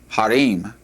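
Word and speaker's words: הרים: The first one is the word for mountain which is pronounced har and mountains plural would be harim.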